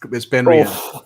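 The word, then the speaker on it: BenRiach: It's not a Glen, but it rhymes with Glen. Well, yeah, Ben Riach, possibly. Is it Ben Riach? Yes, it's Ben Riach.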